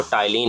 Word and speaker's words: ptyalin: ठीक है, टाइलिन की जो है स्पेलिंग ये होती, पी से शुरू होती है। कन्फ्यूज़ मत होइएगा कि पी क्यों लिखा हुआ है, क्योंकि साइलेंट रहता है।